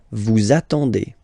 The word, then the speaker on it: vous attendez: Vous attendez, attendez, okay? Let's put here the liaison, the link. Vous attendez, vous attendez, okay?